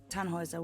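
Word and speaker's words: Tannhäuser: why what's your name tanhauser we'd pronounce it tanjoyza with an umlaut german roots yes my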